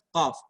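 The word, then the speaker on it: ق: Huruf qaf berada di pangkal lidah, ya, pangkal lidah. Qa. Tempel lidahnya itu ke langit-langit lunak atas, ya. Ko. Nah, ini kalau perhatikan bentuk lidahnya. Ko. Ini kayak perosotan ya. Ko. Udara tertahan, nggak bisa keluar.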